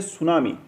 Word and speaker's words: सुनामी: इसी कैटेगरी में नेक्स्ट आती है सुनामी, जिसकी स्पेलिंग में टी साइलेंट है, पर जब सुनामी आती है तो कोस्टल एरियाज़ की साइलेंस को हाहाकार में बदल देती है।